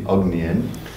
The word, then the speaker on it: Ognjen: During his career as a bass and guitar player, Ognjen, I'm pronouncing that correctly, Ognjen, also known as Ogi, performed with They like that.